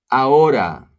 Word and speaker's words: ahora: Ahora, the H is silent.